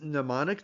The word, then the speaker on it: mnemonic: So a lot of times when things get tricky, we will use mnemonic devices to remember what they mean. Mnemonic devices with a silent M are just silly things that stick in our mind easily and help us keep things straight.